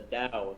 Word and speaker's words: Tao: tower of physics the tao of physics yeah i never thought it's not pronounced with a t sound it's the diaz yeah the dao i never knew i